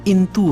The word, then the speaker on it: इंतु: उसमें साफ तौर पे लिखा है, प्राचीन काल में इसका नाम सिंटू और हिनताओ था, परंतु अब इसका शुद्ध उच्चारण इंतु है और फिर ये इंतु का मतलब चीन में चंद्रमा समान बताते हैं।